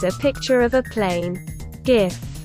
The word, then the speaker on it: GIF: picture of a plane gif pronounced as jif is among the most